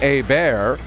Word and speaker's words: Hebert: of Hebert and again if it should be the more francophone pronunciation a bear I am NOT doing it out of disrespect I know that there are other hockey players in the province with the surname Hebert who pronounce it anglicized but played ahead and